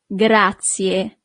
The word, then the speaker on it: grazie: Thank you is grazie. Grazie. So you really need to pronounce the last letter, I in English, but the letter I in Italian is E.